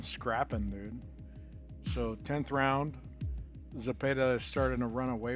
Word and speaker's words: Zepeda: And I have to say Zepeda. I have to hurt for the accent because I'm tired of hearing him mispronounce the motherfucker on TV.